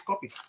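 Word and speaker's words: kopi: l lots of so how do you actually pronounce it so it's k o p i this is copy it's copy right copy okay and that's Malayan yes right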